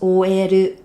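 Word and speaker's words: オーエル: In Japanese, it's pronounced oeru, oeru. So it's based on the English word OL.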